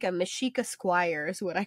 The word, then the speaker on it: Mexica: With the spelled out, because it's spelled like Mexica, M-E-X-I-C-A.